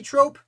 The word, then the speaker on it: Troup: now we're going to robert troop maybe trope i think it's pronounced troop robert troop is a